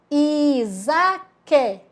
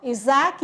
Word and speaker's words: Isaac: com som de z Isaac olha lá como ficou Isaac escrito com s porém o s tem som de z porque está entre a vogal I EA vogal a Oi Rosane vamos juntar